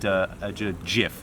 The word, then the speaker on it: Jif: do like a good Jif, which is actually a South African Oh, brand. that's true. Not to be pronounced GIF.